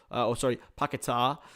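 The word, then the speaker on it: Paquetá: Paqueta, which is how they can correctly pronouncing it now.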